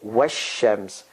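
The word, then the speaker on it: والشمس: alif alam both go the article goes away in pronunciation it's written is there in pronunciation so you say washems now this is all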